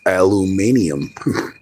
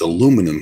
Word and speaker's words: aluminium: Like aluminum spells the same way, but if you go to Australia, it's aluminium. No, it's Yeah. And it's aluminum here.